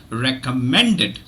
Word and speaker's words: recommended: uh from this word if there are two uh letters in the spelling in spelling two repeated letters so here we have a double m so it is r e c o m m e n d e d okay so you have two letters it is usually one sound okay so it is